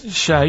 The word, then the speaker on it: Che: Che is like shake, and his surname is like guitar.